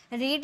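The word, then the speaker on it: read: रीड यानी कि पढ़ना, इसे प्रोनाउंसिएशन अलग की जाती है, रीड, और इसे हम पढ़ेंगे रेड, और इसे भी पढ़ेंगे रेड, ठीक है। रीड, रेड, रेड, रीडिंग, रीड्स, देखने में बिल्कुल सेम है, रीड ही लग रहा है, लेकिन सेकेंड फॉर्म और थर्ड फॉर्म की प्रोनाउंसिएशन रीड नहीं रेड में करेंगे, ठीक है।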